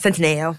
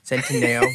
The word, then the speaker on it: Centineo: Lana Condor and Noah Centineo. Centineo. Centineo. Man, I'm really killing it with these pronunciations.